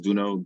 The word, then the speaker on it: Duno: My name is Duno. First name's pronounced like the game Uno.